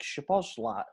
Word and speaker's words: Szoboszlai: Yeah, because the SZ makes a normal S, and then just the solo S makes a ch.